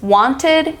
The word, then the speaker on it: wanted: Now, let me explain to you how to pronounce the ending, id.